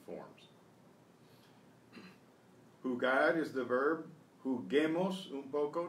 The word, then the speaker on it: juguemos: Juguemos un poco, to preserve the hard G. We use that silent U again.